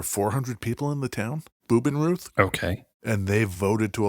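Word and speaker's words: Bubenreuth: So they go to nearby, called Bubenruth. I get the feeling you are pronouncing German like I pronounce Spanish. That could very well be. Bubenroot. Is that what you just said?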